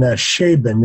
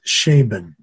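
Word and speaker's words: Scheeben: And Schaeben is pronounced, it's spelled S-C-H-E-E-B-E-N, Matthias Schaeben.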